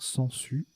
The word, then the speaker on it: sangsue: particulièrement compliqué à construire sangsues avec le G qui se prononce pas là puis aucun s